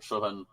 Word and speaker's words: Chuvin: Songs for Pierre Chuvin, I guess is how he would say his name. Chuvin.